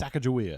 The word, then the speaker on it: Sacagawea: Well, it's the Sacagawea coins. Oh, okay. I don't know if that's how it's pronounced. It's Sacagawea.